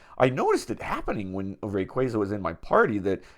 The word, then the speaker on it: Rayquaza: And I was always a person who thought it was Rayquaza. I don't know. Just makes sense based on the spelling. Um, some people called it Rayquaza. And recently it was confirmed that Rayquaza is the pronunciation of this Pokemon.